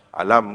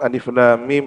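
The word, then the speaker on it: الم: ya ain Shad ya kalau orang tidak memahami cara membacanya ya dibaca alam gitu ya asal ini menunjukkan bahwa dia tidak tidak melalui keilmuan yang memadai Bismillahirrahmanirrahim Alif Lam Mim Allahu aamu bimuradiihi bidzalik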